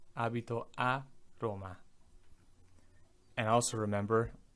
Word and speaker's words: Roma: And also remember, in English we tend to do what's called a schwa, which means the last syllable of a word we just kind of, right? We say Roma, that sound doesn't exist in Italian. Cut it out. It's always a. Roma, Roma, Roma, not Roma, right?